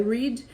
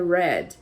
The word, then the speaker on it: read: verbo read no entanto Apesar dele ficar com a mesma escrita no passado muda a pronúncia então no presente ele é read no passado ele fica com a pronúncia da cor vermelho que é Red tá então tem essa